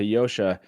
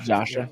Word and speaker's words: Yosha: Like I did get to talk to Yosha, and we got to interview him. And Jono calls him Joshua, by the way. Just say it right. Joshua. Oh yeah. There's so a Yosha.